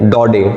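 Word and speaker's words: Daudet: Writer का नाम है अल्फोंसे डॉडे, टी साइलेंट है।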